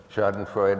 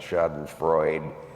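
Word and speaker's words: Schadenfreude: more deeply sh Freud shod and Freud yeah and thank you making it four syllables and not shod and Freud the way you hear it all the time anyway so when someone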